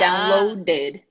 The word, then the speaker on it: downloaded: yeah so uploaded and downloaded exactly so there is an extra syllable because the last letter is a deep so uploaded downloaded you have to really save the syllable do everyone are here